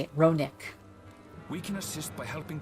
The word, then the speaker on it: Ronek: Oh, that's how you say it, Ronick.